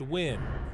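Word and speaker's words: Nguyen: a common Vietnamese name spelled ng u y en but pronounced Wynn Robert Trent Burke E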